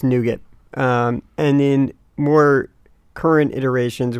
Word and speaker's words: NuGet: It's Nuget. So not like the candy. Like nougat without a second G. Oh. Yeah. So it's not like the candy bar or actually nougat I think is spelled N-O-U. Yeah. G-A-T. So it's completely spelled differently, but it's NuGet as in N-U get.